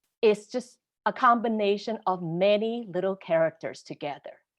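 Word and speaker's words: 吗: And a question, if you can turn a statement into a question by simply adding ma, no tone, meaning it's a light sound at the end of it.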